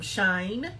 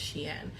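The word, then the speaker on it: Shein: bunch of stuff from shine um Sheen I've heard Sheen I heard that's the proper way to say it is she in but the rest of y'all call It Shine but um my daughter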